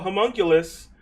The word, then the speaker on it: homunculus: For all the wizards out there that wanted to have a homunculus, you can do that now.